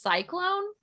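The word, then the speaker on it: C-Clown: I only saw this on one page, but it's supposed to be pronounced cyclone.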